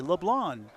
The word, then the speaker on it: LeBlanc: the six for Leblon LeBlanc with a silent c Leblon Leblon Packard nice out